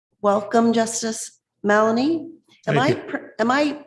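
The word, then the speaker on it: Mallonee: Welcome, Justice Malanie. Am I am I pronouncing your name uh correctly or incorrectly?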